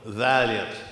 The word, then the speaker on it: Vaillant: the program suggests and my name is pronounced like the old automobile Valiant even though it's not spelled that way today my task is